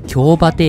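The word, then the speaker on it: 京終: 列車は次に京馬亭駅に着きます。京の終わりと書いて京馬亭と読むのですが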